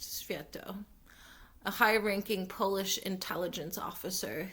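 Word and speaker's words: Światło: The key player was a man named Joseph Sviatlo. It's spelled Swiatlo, which I think is pronounced Sviatlo.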